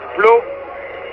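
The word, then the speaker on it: Pleau: Flo, ça s'écrit en français, P-L-E-A-U, c'est un descendant de français sûrement.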